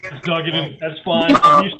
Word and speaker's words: Duggan: Did I pronounce that right? It's Duggan, and that's fine.